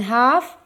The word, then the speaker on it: half: As it spins, one half, L is silent in half, one half of the earth faces the sun and hence gets its light and experiences days.